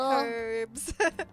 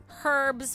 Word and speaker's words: herbs: oh yeah yeah basil herbs herbs with an H she also says H